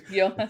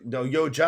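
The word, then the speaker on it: Llotja: Yoha school. The no Yoja. I think we pronounced the J.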